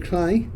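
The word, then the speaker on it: Cley: seals carry on through clay or clly as it's pronounced there is a small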